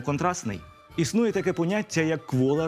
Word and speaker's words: контрастний: Так, наприклад, пишемо «контрастний», але вимовляємо «контрастний».